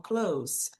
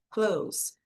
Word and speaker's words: clothes: Clothes, eu tenho aqui a retirada desse som. Então, você fala como clothes, clothes. O o no inglês tem esse som de o, muitas vezes, né? Em muitos casos. Então, clothes, para falar roupas. Tá? Então, a gente não fala esse the, clothes, é bem mais fácil.